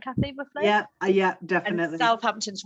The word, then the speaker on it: Southampton: We do have some weird pronunciations in this country. Right. Okay, it's a then SUTH South, then it's AMPTO. Southampton.